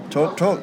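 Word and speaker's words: TRQ Talk: Talk Talk although I can't pronounce that real well but t r q t a l k. yeah to how do you say torque talk torque talk there you go yeah go out there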